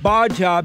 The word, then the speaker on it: Gbaja: what are you getting normally the g is silent so you take okay i have with me kabir baja b amir a former